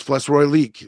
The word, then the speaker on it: Flesh Relique: Flesh Relique. That's how you say it. Flesh Relique. Get used to saying it.